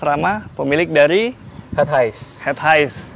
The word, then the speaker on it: Het Huis: Head Highs. Dibacanya Head Highs ya?